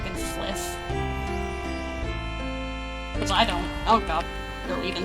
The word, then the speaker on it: FlyFF: Did you know you're supposed to pronounce that name as fliff?